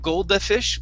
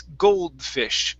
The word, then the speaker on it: goldfish: and this word here instead of golda fish golde it's goldfish goldfish goldfish good excellent that